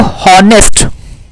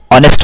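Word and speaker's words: honest: अब देखो हॉनेस्ट होता है ना, कि हॉनेस्ट होता है, ऑनेस्ट होता है, हॉनेस्ट नहीं होता, ऑनेस्ट होता है, ठीक है।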